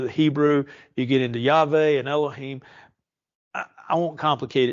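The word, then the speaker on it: Yahweh: the ton we've added vowels to it we pronounce it as yve don't get too excited about that but just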